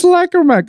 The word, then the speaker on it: Lacrima: Why does everybody keep getting that name wrong? I don't understand. It's Lacrima, guys.